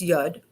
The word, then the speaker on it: Yud: The 10 in Hebrew is Yud, Y-O-D. The Aleph is an A. It's A. It's silent, it's dormant, so it depends on what you put it next to. So it's Yoda, Yuda.